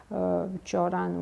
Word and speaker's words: Cioran: These great authors from France, for example, Cioran, we pronounce it.